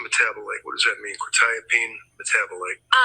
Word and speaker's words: quetiapine: Probably mispronouncing this, quetiapine? Um, quetiapine.